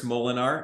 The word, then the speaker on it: Molenaar: estate people so um my name is molinar and my last name is spelled m-o-l-e-n-a-a-r so if you look me up